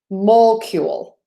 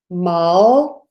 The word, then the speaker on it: molecule: So we don't say molecule. No, even though that's how the spelling looks. We say molecule. So mol, real nice open mol, super short schwa syllable, mala, mala, and then we end with the cule. Yule. There's actually like a y in there. You, like the word you. Let me rewrite that. Yule, cule, molecule, molecule, molecule, molecule.